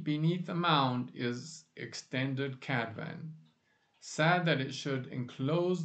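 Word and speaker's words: Cadfan: You pronounce it Cadvan. By the way, one F is always a V sound in Welsh.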